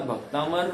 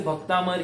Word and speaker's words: भक्तामर: कर रहा है और भक्तामर में थोड़ा सा अशुद्धि है जैसे भक्तांबर ही है कहते अनेक लोग क्या कहते हैं भक्तांबर भक्तांबर अंबर करते हैं वो अब उनको कितने